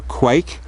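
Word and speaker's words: quaich: shallow as you can see it's called a quake and that's spelled q-u-a-i-c-h but it's very traditional so Rachel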